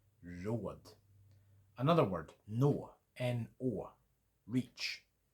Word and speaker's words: råd: Short little flick. Put that into a word. Road. R-O-D. Road. It means advice. Road.